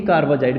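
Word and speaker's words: carbazide: ये हमारे पास semi कार्बाजाइड का फॉर्मूला है। यहाँ कार्बे ना लिखो, ए लगा लो, वैसे कार्बेजाइड ही बोला जाएगा प्रोनाउंसिएशन में।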